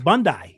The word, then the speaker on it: Bondi: And I'm told it's Bondi Beach, not Bondi Beach. Oh, it's Bondi. Yeah.